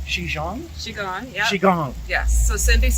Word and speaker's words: Qigong: 11:30, and it all starts up actually because there's I think it's pronounced Qigong? Qigong, yeah.